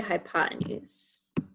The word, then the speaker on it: hypotenuse: You might also sometimes see it spelled with one more E. So sometimes spelled hypotenuse with an extra E in there. Pronounced the same way either way, hypotenuse.